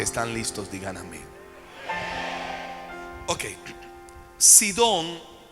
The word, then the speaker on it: Sidón: listos digan amén Okay sidón se escribe así como suena s i d o